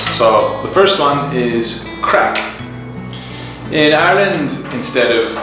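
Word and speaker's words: craic: And crack is spelled like this because Irish has a different spelling, and crack is kind of like fun.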